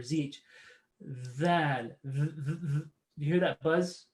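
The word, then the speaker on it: ذال: So dhal, simply make sure your tongue is out and there's a little bit of a buzz there. Dhal, dhal. Not thal, not th, but dh or zh. Dhal.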